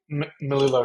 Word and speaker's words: Melillo: Robert Melillo, is that how I pronounce his surname? Melillo is correct, yes.